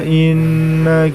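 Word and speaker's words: إِنَّ: Kemudian setelah itu inna yang berwarna merah, di situ terdapat nun tasydid. Maka sama hukumnya dengan mim tasydid, yaitu gunnah. Cara membacanya ditahan dan diperpanjang.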